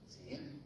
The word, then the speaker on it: DeepSeek: Se llama así, DeepSeek, se pronuncia alargada la y siempre.